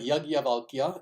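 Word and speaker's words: याज्ञवल्क्य: But Yajnavalkya is precisely how you pronounce this individual's name.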